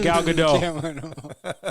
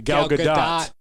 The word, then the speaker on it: Gal Gadot: she does you guys look at look at gal gadot look at well sorry let me pronounce her name correctly gal gadot i'm sure they hated i'm sure they hated